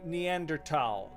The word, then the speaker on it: Neanderthal: I growing up it was always thaw. Growing up everyone always said thal. Now I'm hearing neanderal. Is it just one of those things that someone recently decided they would pronounce differently and then it caught on and it became kind of like a hipster deal. It's like a hipster way of pronouncing it.